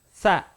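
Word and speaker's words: ث: Sa, ya, huruf sa. Nah, perhatikan bedanya dengan yang tadi. Huruf sa ini yang difokuskan adalah huruf S-nya. T-nya seperti tidak diucapkan tapi tetap terdengar.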